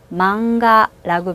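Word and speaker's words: マンガ: 만화처럼 이렇게 또 카행, 가행이 뒤로 왔네요. 이런 경우에 망, 이응 받침처럼 발음하는 게 좋다고 말씀드렸죠. 자, 만화는 망가라고 발음합니다.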